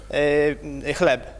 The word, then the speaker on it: chleb: Chleb.